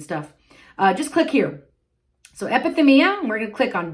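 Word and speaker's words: ἐπιθυμία: Epithumia. That's how you pronounce it.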